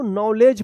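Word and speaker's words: knowledge: इसमें देखिए डी और जी है तो इसका उच्चारण ज होगा तो क्या पढ़ेंगे इसको नॉलेज पढ़ेंगे क्या पढ़ेंगे नॉलेज नॉलेज के एन ओ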